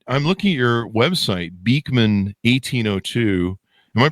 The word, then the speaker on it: Beekman 1802: Anyway, so now you guys have created, I'm looking at your website, Beekman 1802. Am I pronouncing that right?